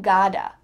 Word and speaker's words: gotta: You gotta.